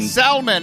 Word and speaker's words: Salman: are you today sir Salomon or Salman Salman it's like the fish but you pronounced it the way that the fish should be pronounced no salmon and I'm